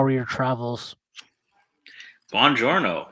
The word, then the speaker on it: Buongiorno: Buongiorno, in the words of Brad Pitt. That is the correct pronunciation.